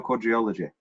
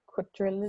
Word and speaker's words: quadrilogy: How do you pronounce it? Quadrilogy or quadriology? Quadrilogy.